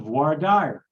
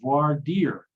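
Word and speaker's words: voir dire: is in the textbook it's the voir dyer or the voir deer however you might pronounce it both pronunciations are fairly common it's the process of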